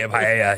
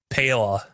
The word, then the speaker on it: paella: No, he's he's not even gonna say paella. He's going to be pale. Like he's gonna he's gonna pronounce the L's.